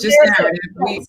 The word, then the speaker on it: K-narrative: The K is silent like knowledge. The K is silent. So it's just narrative.